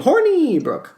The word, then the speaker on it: Hornibrook: That's his name, Hornibrook.